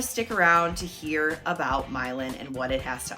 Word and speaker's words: Milan: a map before and thought is that Milan like Italy nope it is pronounced milin and people are making